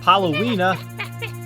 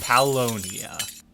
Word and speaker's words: Paulownia: If you think it's time for Halloween with Paulownia, you're wrong. Think Pau P-A-U right here. Think the Muse song Knights of Sidonia.